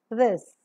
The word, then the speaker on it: this: As you find in the examples, T-H-I is this. So it's not this, it is this. Pronounce it slightly. See the fricative nature is maintained and don't pronounce her sound here. It's not aspirated.